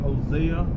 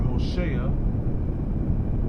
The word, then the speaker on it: Hosea: And now let's go to Hosea or Hosea, however you prefer to pronounce it.